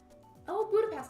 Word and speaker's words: Budapest: join and simple Buddhist pronounced like Buddha and has is like a pastor Nazi thing combined both and you get oh Budapest okay gotcha gotcha Lexi when